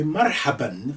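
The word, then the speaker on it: مرحبًا: this one in blue everything in blue this means you may or may not pronounce that um generally speaking they will say marhaba but you can say marhaban for those who want all the endings those who want to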